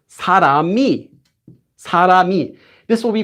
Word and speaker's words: 사람이: So when we pronounce this word, it doesn't become 사람이, it's 사람이, 사람이. This will be pronounced exactly the same as saying 사람이.